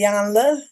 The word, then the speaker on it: Iyanla: I had to tell somebody you had to let the Y go to say Iyanla.